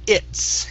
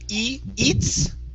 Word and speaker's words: it's: Now, I do want to work on the word it's instead of eats. Okay, use a short I there.